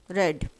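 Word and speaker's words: read: यहाँ वर्ब दी है रेड। रीड एक ऐसी वर्ब रहती है जिसका V1, V2, V3 में स्पेलिंग सेम रहती है, लेकिन पढ़ते समय उसे पढ़ेंगे रीड, रेड, रेड।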